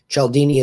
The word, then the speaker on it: Cialdini: in hearing his audio book or reading it chaldini is spelled c-i-a-l-d-i-n-i c-i-a-l-d-i-n-i robert cialdini wrote a book